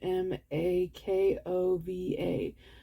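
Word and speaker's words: Chmakova: the last name sorry it's c h m a k o v a I'm sure it's makova but do you do you pronounce the CH though who knows anyway that's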